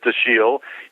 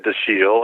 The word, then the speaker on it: Dashiell: So I always pronounce it Dashiell, but there's controversy about that. Well, it's not controversy so much as the family says Dashiell, he said Dashiell, and it's originally a French name, the Dashiells who came